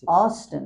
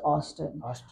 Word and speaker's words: Austin: in California okay where in Texas in Houston Austin it's pronounced Austin Houston and where in California uh I have